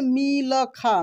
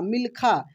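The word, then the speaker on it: मिल्खा: हम लोग कैसे पढ़ते मिल खा मिलखा लेकिन यहां पे हम लोग क्या पढ़ रहे मिलखा देखिए ल को तेजी में बोला जा रहा है क्या हो रहा है ल का उच्चारण तेजी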